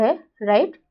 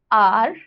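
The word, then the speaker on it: hour: हाउस, आर, ठीक है, इसका प्रोनाउंसिएशन आर होता है, हार नहीं होता है.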